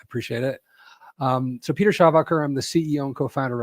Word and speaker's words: Schawacker: Um, so Peter Shabbacher, I'm the CEO and co-founder of a company called Nearshore Cyber.